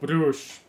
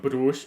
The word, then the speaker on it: Bruges: Because some people don't know what Club Brugge is, but they do know what Club Bruges is. And I am Belgian, so I say Club Brugge instead of Club Bruges. It's that simple. So I keep switching between the two pronunciations.